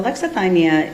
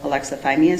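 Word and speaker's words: alexithymia: So alexathyia is it's more of a trait than a formal diagnosis.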